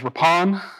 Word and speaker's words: Rippon: so oftentimes as well in prince william county it is known as rapan um that's i come